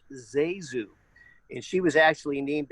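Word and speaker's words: ZaSu: or something but i hate no no it's pronounced zazu and she was actually named after her mother's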